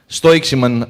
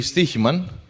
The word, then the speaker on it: Stoiximan: Stoiximan, as you might pronounce it. It's actually Stoiximan, and it roughly translates to betting man.